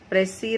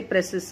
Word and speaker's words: précis: So the different ways of writing are summarizing, paraphrasing, précis writing. We don't say précis, okay? The S is silent.